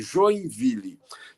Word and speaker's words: Joinville: Eu parto do princípio de que o nome da cidade... Eu começo a trabalhar a partir do nome da cidade, Joinville, que na pronúncia francesa é mais ou menos Joinville, que quer dizer duas vilas, ou vilas juntas.